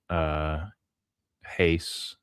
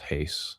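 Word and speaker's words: εἷς: But because I think you have to acknowledge that Echad or even Heis, is it? Yeah, it's epsilon iota, so it's Heis or Heis. I use the Erasmian pronunciation because that's what I learned.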